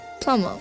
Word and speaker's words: plumber: monica donald actually okay in the word plummer the silent letters are b plummer yeah and the harmed